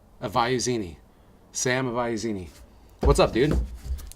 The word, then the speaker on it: Avaiusini: It's pronounced Avaiusini. Avaiusini.